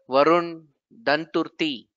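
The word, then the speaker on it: Varun Danturthy: Varun Danturti Yeah, from absolutely correct.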